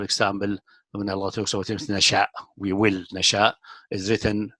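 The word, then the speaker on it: نشؤا: If you pronounce it like that, it doesn't make any sense. Nashwa, obviously, it's not pronounced this way. It is Nasha.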